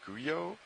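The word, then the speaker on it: guyot: up until this morning I believe the correct pronunciation is GU yo yo yo there we go it spelled GU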